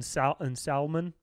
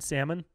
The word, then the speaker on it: salmon: the toilet uh man people who pronounce the l in salmon and salmon okay that getting shot